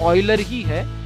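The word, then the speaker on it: Euler: मैं इसे miss pronounce नहीं कर रहा, एक्चुअल में इसका नाम ऑयलर ही है, ले क्योंकि ये जर्मन बंदा है और इसका जो स्पेलिंग है वो इंग्लिश में कुछ ऐसा आता है, ठीक है, तो हम इसे यूलर पढ़ लेते हैं, लेकिन एक्चुअली इसके नाम का प्रोनाउंसिएशन ऑयलर है।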